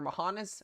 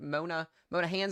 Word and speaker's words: Monahans: This is along Interstate 20 here near Mohanas, or Monahans, I guess is how you say that, west of Odessa.